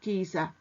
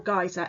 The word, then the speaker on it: geyser: Now, you may have heard of something called Old Faithful Geyser, or Geyser. Again, they can be pronounced either way.